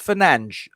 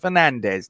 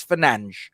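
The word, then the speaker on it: Fernandes: fernandez and greenwood um yes i'm told it's pronounced finance apparently it's not pronounced fernandez don't you know i'm not portuguese i haven't got a clue but apparently it's finance not fernandez whatever okay um up front rather more easy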